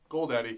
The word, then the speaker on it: Goldaddy: Wait, that's how you pronounce that? Goldaddy? Goldaddy, yeah.